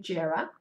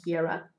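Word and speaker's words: Jera: we have the roon jarrah or hera depending on how you like to pronounce it is pronounced differently by different people and this is the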